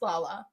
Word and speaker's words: Lala: Even um no it is pronounced Lala the grandma's companion. It's Lala.